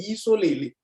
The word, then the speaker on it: Yisoleli: So instead of Yisoleli, then the Yisoleli came into Israel. My God. In their pronunciation. And those elders who were even defending say, no, we don't say like that. We say Yisoleli.